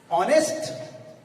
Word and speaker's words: honest: But university, not an A, because it is started with the U, but its pronunciation with U. य से हो रहा है, इसलिए उसमें A यूनिवर्सिटी लगेगा. Honest, H-O-N-E-S-T, honest.